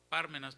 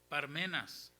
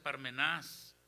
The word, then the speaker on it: Parmenas: Yo pronunciaba Pármenas, pero no es Pármenas porque no tiene el acento en la Biblia. Dice Parmenas. Amén. ¿Cómo dice? Parmenas. Significa en griego sí se pronuncia Parmenás.